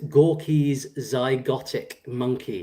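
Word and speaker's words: Gorky's Zygotic Mynci: Um, Cla says, "Gorky's zygotic monkey is how it's said."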